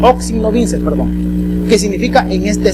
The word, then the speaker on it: in hoc signo vinces: una frase en latín que más o menos más o menos se pronuncia en signo vinces in hoc signo vinces perdón que significa en